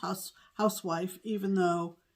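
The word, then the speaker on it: Huswife: and they are from the good housewife it's pronounced house housewife even though it's spelled it's spelled hus white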